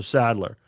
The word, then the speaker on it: Sadler: He gets that a lot where people throw an N in there. It's spelled the same but without the N.